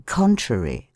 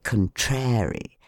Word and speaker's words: contrary: syllable si and in contrary on the first syllable con how shocking it is to hear people say contrary theater the Friends of